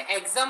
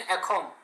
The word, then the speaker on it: Axom: एग्जाम pronounce करते हैं, इज it insane एग्जाम और इंसेन अखोम? अखोम अखोम, वो आसामी से ना वो लोग, तो इसलिए उसको एग्जाम नहीं अखोम बोलते हैं, अखोम बोलते हैं।